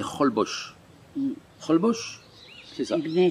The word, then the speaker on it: Holbox: Alors ça s'écrit H-O-L-B-O-X, mais ici, ça se dit Holbox.